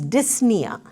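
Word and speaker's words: dyspnea: Another very common term that you will see in your doctor's notes or nurse's notes is dysna. Okay the p is silent. You don't pronounce the p.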